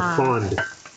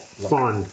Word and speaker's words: fond: That is what we call the fond. How do you say it? Fond.